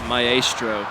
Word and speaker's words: maestro: guys i'm pretty sure the official pronunciation is maestro it's like mei and mai combined it's really funky so no it's okay